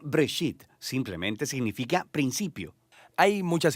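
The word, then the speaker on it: בראשית: Se pronuncia Breshit.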